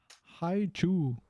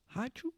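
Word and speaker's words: Hi-Chew: Hi chew. Hi chew.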